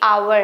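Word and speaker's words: hour: बट ये आवर है। घंटा। ठीक है? घंटा मिनट वो वाला घंटा। तो इसे हम आवर पढ़ते हैं।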